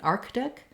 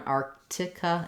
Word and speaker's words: Arctic: Sort of figure out where your error may be, like mine was on missing that K and missing that T.